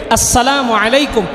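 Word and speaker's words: السلام عليكم: হামজাটাকে ভালোমতো উচ্চারণ করবো। হামজা ইয়াসিনকে ধরবে। আসসালামু আলাইকুম। এইভাবে সালাম দিব।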